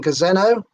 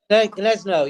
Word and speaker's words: Gniezno: And how do you remember the times of the starts in Gazeno? Greetings. Is that right? How do you pronounce that? Can you see it? Gniezno, yeah.